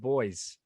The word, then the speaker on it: buoy: instead of b-o-s no it's spelt the same but we pronounce it boys yeah you people got